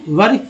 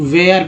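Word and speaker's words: were: नहीं, वर actually correct उच्चारण है, लेकिन क्या करते हैं लोग, वेयर पढ़ते हैं, वेयर। तो ये इनकरेक्ट उच्चारण है, ये ऐसा नहीं पढ़ें।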